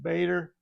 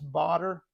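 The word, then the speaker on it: Baader: I mean, I've always said Bader, but it is two A's, and I think it's German, so maybe it's Bader.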